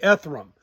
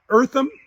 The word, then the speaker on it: Eartham: that undefeated season uh eartham eartham that's how I should say Tom's name eartham uh was fourth